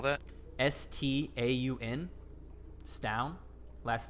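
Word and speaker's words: Staun: in which you seek oh how do you spell that s-t-a-u-n stown last name vespi v-e-s-p-i this rough sketch of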